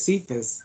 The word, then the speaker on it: Cephas: I want to thank Patricia I may pronounce this wrong. Is it Cephas? It is Cephas.